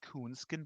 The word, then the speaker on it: Künsken: Our guest on the show is Derek Künsken. English speaking folks probably pronounce it Künsken, but I'm German and he's of German heritage, so I pronounce him with the umlaut.